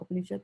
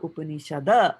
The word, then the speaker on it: Upanishad: He has not put Upanishada, right? He's ended it with a D. That's why we are saying Upanishad. If he had put an A there, then we would have said Katha Upanishada, like that.